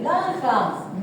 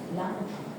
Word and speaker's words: Langhans: Dice Langhans, no Langerhans. No, dice, no. Langhans.